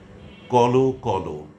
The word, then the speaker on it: কল কল: তো এগুলো আসলে বিশেষণ রূপে ব্যবহৃত হয় এবং তার শেষে অ থাকে বানানে অ থাকে। কিন্তু উচ্চারণের সময় এর উচ্চারণ হবে ওকারান্তে।